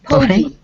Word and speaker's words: pogey: What is the pronunciation? Pogey? Pogie.